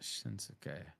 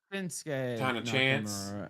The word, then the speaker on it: Shinsuke: mean but it's shinsuke Nakamura it's it's not shinuk it's Shin shinsuke not shinuk right you don't pronounce it right that way okay no it's shinsuke and it's ASA you're pulling all these NXT